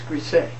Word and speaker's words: Griesa: He says it's Grise, but it's spelled Griesa.